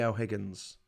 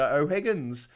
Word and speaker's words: O'Higgins: santiago is named after o'higgins and the thing is that in in spanish h is a bit of a weird letter you don't really pronounce it like you say ola